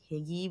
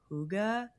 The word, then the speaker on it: hygge: It's called, and I'm gonna mess this one up, but I'll spell it out, hygge. I thought it was like higgy, but it's actually like hygge.